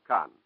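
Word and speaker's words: Caen: fighting proceeding in the town of Khan that's spelled CA en of course all of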